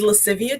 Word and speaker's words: Lascivia: It is Latin. It is Lascivia Tresses, Latin for playfulness and sultriness, which I feel that really is the biggest essence of my business.